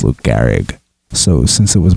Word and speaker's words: Lou Gehrig: in that same game Megan answered who is Luke Garrick instead of who is Lou Gehrig so since it was